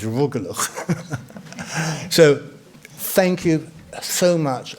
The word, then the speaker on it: rugelach: And finally, I would just say to Shahita that the pronunciation of the Jewish pastry is rugelach.